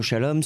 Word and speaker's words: Shalom: Téléchargez l'application Radio Shalom sur votre téléphone portable. Radio Shalom s'écrit avec un S, Shalom S-H-A-L-O-M.